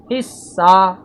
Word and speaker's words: حصہ: بھی دیے گئے ہیں، ہے صاد زیر حص، صاد ہے زبر سا، حصہ۔ اس حصے کو آپ